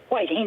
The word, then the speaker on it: Whiting: Whiting, New Jersey.